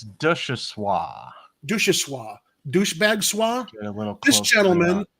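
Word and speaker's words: Duchossois: Ducoswas, is the top patron donor for Paul Vallis, having contributed 700. How do you pronounce it? It's Duchessois.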